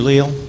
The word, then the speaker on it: Leal: Leal three minutes hello thank you all for being here my name is Leal some pronounce it Leal so whatever you decide I'm good with it good to see a